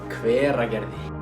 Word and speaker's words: Hveragerði: Hveragerði.